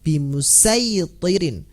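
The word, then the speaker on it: بمصيطر: Bacalah dengan huruf "sad", bukan "sin". Nah, seperti yang telah kami jelaskan sebelumnya, ada "asir" dan "musaytir," " bimusaytir."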